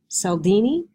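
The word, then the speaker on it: Cialdini: But speaking of influence, Bowman and Deal talk about, I think his name is pronounced Saldini, but I can't remember.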